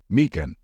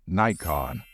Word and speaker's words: Nikon: a moment to think you probably pronounce this word as mean in fact you are correct mean is a proper way to say it however in the USA people tend to say Nikon so both options are correct uh digital camera so